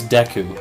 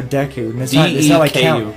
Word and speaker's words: Deku: do you say it it's Deku so Deku so it's not like Count Dooku sticks no okay with